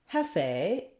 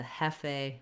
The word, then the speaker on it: Hefe: and I used the Hefe filter. And then we have first syllable stress, so hef is long. And then this letter E, they're saying as an A sound.